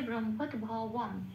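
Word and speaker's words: ব্রহ্মোদ্ভবম্: তার কারণ 2 নম্বরে তালিকাভুক্ত করে দেওয়া আছে বয়ের উচ্চারণ সংস্কৃততে ও প্লাস অ, মুখটা খুলে বলতে হয় ওয়া, সেই জন্য উপরে ব্র্যাকেটে ও প্লাস অ দেওয়া আছে।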